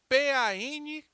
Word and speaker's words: Pankaj: P-A-N-K-A-J, Pankaj.